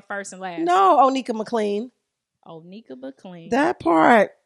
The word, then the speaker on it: McLean: Even though my dad say McLean and it's not spelled like that, but he from the South. It is what it is. I'm from the South. I wanted to say McLean. Yeah, I say McLean and people like, that's not how it's spelled.